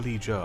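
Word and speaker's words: Vallejo: Is it pronounced Valijo or Valijo? I'm pretty sure it's Valijo. Like sh. A soft J.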